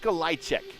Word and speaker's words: Olajczyk: Bunch of letters he goes by as his name, but it's Mick Olajczyk. Mick Olajczyk is how you say his name phonetically as he goes side